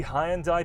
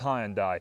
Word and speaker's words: Hyundai: favorites in this category yeah that's really how I pronounced hi and I alongside most British people and the UK marketing team of hi and I as well so if that really